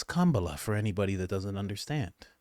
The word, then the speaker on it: Kamala: you pronounce her name and again it's coma for anybody that doesn't